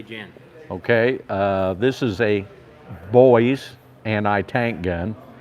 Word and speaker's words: Boys: Okay, this is a Boyse anti-tank gun. It's British, come out in the 1930s. He said boys, by the way. Boyse, B-O-Y-E-S, that's how it's spelled.